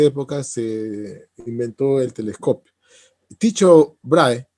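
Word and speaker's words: Tycho Brahe: se inventó el telescopio dicho brahe así yo lo estoy diciendo como en español ya como se escribe Sí pero es un nombre no es inglesa sino es danés donde se habla una forma de alemán no cierto entonces dicho brahe yo estoy diciendo en español porque no conozco el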